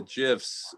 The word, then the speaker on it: GIF: talking about the the gifs uh grady says the creator said it's jif but gif makes more sense because it stands for graphics interchange format so you know i